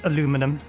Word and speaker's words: aluminium: I usually say aluminium, but I will occasionally use aluminum, the American pronunciation.